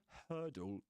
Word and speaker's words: hurdle: and her do in the first syllable her the vowel sound rhymes with the vowel sound in the word church. Okay. And the word word. And there's another word very common word which is bird. So hurdle bird church and word.